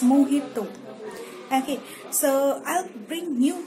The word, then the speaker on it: mojito: ghost emoji IT over it's not magical it's mojito okay so I'll bring